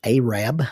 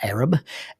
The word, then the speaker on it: Arab: place as Arab Alabama it is pronounced aab not Arab Arab Alabama it was supposed